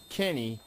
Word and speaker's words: Kinni: this or not, but my first name and your last name is kind of pronounced the same way spelled. Yep. I was actually really impressed that you said my last name correctly because usually people get it say Keiny or this or that